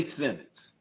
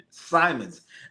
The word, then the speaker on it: Simons: Oh, Anthony Simmons. Ouch. Simons. I didn't say his name right.